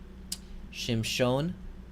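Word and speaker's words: שִׁמְשׁוֹן: It just is holding a place under the consonant, but it is not pronounced. Shimshon, also silent schwa.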